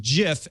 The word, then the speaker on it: GIF: pronunciations they are wrong it is a soft G pronounced GIF end of story well